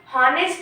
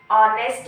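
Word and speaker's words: honest: नेक्स्ट, ये हॉनेस्ट नहीं है, ये ऑनेस्ट है, एच साइलेंट है।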